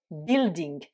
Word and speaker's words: building: américain le bâtiment l'édifice building là vous avez des lettres muettes c'est le u1 ça